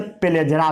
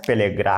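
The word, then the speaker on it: पेलाग्रा: पेलेग्रा, कई लोग इसे पेलेजरा भी पढ़ते हैं, बट इसका ट्रू प्रोनाउंसिएशन पेलेग्रा है।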